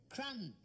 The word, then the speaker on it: crumb: Crumb. Crumb? What you get in bed when you've been eating biscuits. You don't spell it like that. Don't you? There's a B on the end of it.